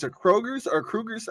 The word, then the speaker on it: Kroger's: So you said it's a Kroger's or Kruger's? How do you say it? I've never heard of this store in my life. Kroger's.